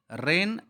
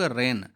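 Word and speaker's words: reign: लिए तैयार रहना चाहिए रेन आर ई आई जी एन अब देखिए स्पेलिंग यहां पर जी क्या है साइलेंट आपका है और पढ़ते हैं हम लोग रेन राज्य तो जैसे कि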